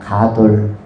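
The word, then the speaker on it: גָּדוֹל: 가돌. 가돌. 우리나라에 이것과 비슷한 어 발음이 있다면 단어가 있다면 뭐 가두 가두리가 있을까요? 가두리 양식장. 그런데이 가도리라는 것은 위대하다라는 뜻입니다.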